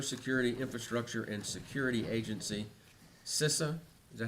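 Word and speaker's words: CISA: letter with cyber security infrastructure and Security Agency sisa is that how you say it yes sir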